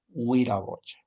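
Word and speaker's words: Wiraqocha: Señor, Huiragocha, ¿ya? Señor es Huiragocha. ¿Listo? Huiragocha. Entonces, ahí está, cuando Q está dentro de la palabra, se convierte en G y la U se convierte en O. Huiragocha.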